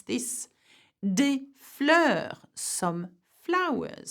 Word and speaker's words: des: Des fleurs, some flowers. So have a look at des has an S, fleur has an S. We pronounce neither.